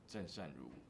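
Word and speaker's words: Chen Shengru: If you speak it in Chinese, it's called Zhen Shen Ru.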